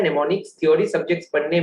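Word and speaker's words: mnemonics: सीखो नया नया चीज, नेमोनिक्स। सर बट ये तो MN आप लिखे, हाँ M साइलेंट है बेटा, ठीक है। नेमोनिक्स बोला जाता है।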